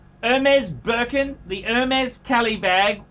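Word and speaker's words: Hermès: handbag could be broken the MS pronounced MMS silent H Hermes Birkin the Hermes Kelly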